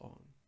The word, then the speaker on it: Aang: But yeah, Ong. It's just not what we grew. The characters call themselves Ong.